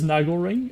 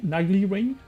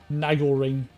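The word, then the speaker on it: Naglering: I consider be intrigued um let's try this Nagle ring nagly ring I know it should be pronounced Nagle but I'm just going to call it nagly ring Nagle ring uh it should afflict 350 Arcane damage to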